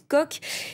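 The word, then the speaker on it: Koch: 12 consacrée au frères coq donc ça c'estcrit coche mais ça se prononce coq c'estes milliardaires qui paralys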